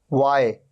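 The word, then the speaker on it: why: आ रहा है यानी आफ्टर डब्लू डब्लू के बाद आ रहा है एच वाय यहां पर एच का साउंड ही नहीं है वाइट यहां पर भी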